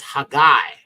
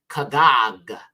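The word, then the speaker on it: Haggai: has hidden okay next one is hagay now this is actually pronounced KAG KAG okay now KAG is is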